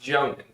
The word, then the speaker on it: Jounin: It is pronounced Jounin.